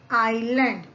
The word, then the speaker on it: island: When the top of such mountain rises out of ocean water, it forms an island.